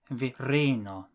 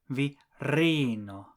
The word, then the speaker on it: virino: Esperanto words are always stressed on the last but one syllable. If you change the ending from o to ino, the stress will also change. For man, the last but one syllable is the first syllable, viro. But for woman, the last